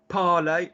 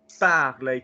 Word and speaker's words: parler: Copy my sound. Don't copy the word that you think you know. Copy the twang. Parler. Parler. Nice copying. That's a vowel. That's a vowel. Parler, wrong. Parler, correct.